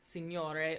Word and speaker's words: signore: And then GN is pronounced like the NY in canyon. So signore or signora. So there's a G, but it's almost like it's just not there.